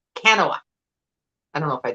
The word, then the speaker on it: Kanawha: I watched it over and over and over again, and I wrote out phonetically the way she was saying it. So I think it was Kanawha, is how, and she lives in the area,